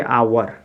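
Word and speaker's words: hour: तो क्या हो जाएगा h आपका यहां साइलेंट हो जाएगा तो इसको क्या पढ़ेंगे आवर क्या पढ़ेंगे आवर आवर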